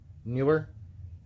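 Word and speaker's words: Neewer: in one accessory kit it's spelled n EE wer newer it's a 50 in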